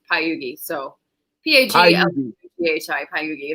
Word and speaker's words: Pagliughi: um, so last name is technically still, but it's Pagliughi. So Pagliughi. Pagliughi, Pagliughi. If you pronounce it, people in America pronounce it Pagliughi, but it's Pagliughi is how you actually say it.